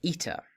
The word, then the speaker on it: eta: But since we've already had a short E sound, as you might be able to guess, eta is a long E sound. A long E sound, so an air sound.